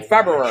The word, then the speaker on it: February: The first R is silent. Library, like in February.